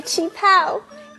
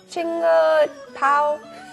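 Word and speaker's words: qipao: Look at my chi pao. It's from my mom. Oh, it's really pretty. How do you say that word again? Chinga pao? Chi pao. A chi pao is a traditional Chinese dress.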